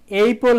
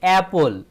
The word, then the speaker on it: apple: এক্ষেত্রে বন্ধুরা এইপল হবে না, এক্ষেত্রে আবার হবে অ্যাপল, অর্থাৎ এর উচ্চারণ অ্যালফাবেটিকভাবে হয় এই।